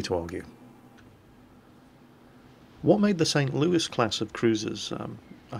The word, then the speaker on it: St. Louis: the uh city of St Louis Missouri and that's how they pronounce It in America so that's how we're going to pronounce it here it's their ship it's